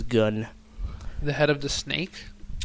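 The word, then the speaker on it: Gunn: confirmed by writer/director James gun I pronounce it like that because it got two ends so uh go as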